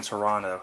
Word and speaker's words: Toronto: Fun fact about the Canadians, they don't pronounce the second T in Toronto, so yeah, it was pointed out in Argo.